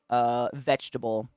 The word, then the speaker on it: vegetable: Vegetable. Vegetable still haunts me. Because if you look at what it is, it's veggie table, but we pronounce it just vetched.